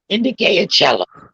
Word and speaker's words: Michelle Indigalo Ocello: But that you don't pronounce it the way that the words are the letters are there. Indicate cello. Indicate cello. Yeah, it's a weird pronouncement for the way the letters are put together.